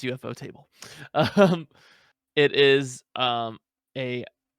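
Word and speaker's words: ufotable: table okay the en yep otherwise known as eup fodable but they're pronounced UFO table um it is um a convoluted story that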